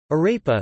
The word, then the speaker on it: arepa: Arepa, Spanish pronunciation, arepa, is a type of food made